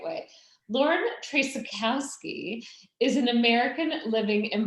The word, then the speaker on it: Traczykowski: i've known her so now i'm going to pronounce it the right way lauren tracykowski is an american living in birmingham she started